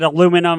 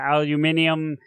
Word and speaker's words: aluminium: about a you know we pronounce it aluminum and they pronounce an aluminium and then the end